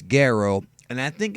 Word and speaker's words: Gero: the original Japanese version Dr jro's name was and always has been Dr Goo but for some reason they changed it to pronouncing it jro why I have no idea but it's gero and I think it's